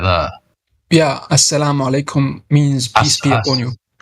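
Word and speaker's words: as-salamu alaykum: But when it comes to alaykum, this is like you need to train about ayn. It's guttural.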